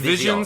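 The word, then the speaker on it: Vizion: us into track five yeah how are you pronouncing This One Vision I said Vision Vision Vis it's Vision spelled as you normally would but with a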